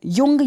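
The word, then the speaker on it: Jung: तो मनोवैज्ञानिक प्रकार के बारे में युंग या जुंग दोनों नाम से इनको प्रोनाउंस कर सकते हैं आप।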